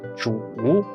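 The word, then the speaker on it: 煮: it becomes bamboo when pronounced in the third tone zhu it means to cook as in boiling food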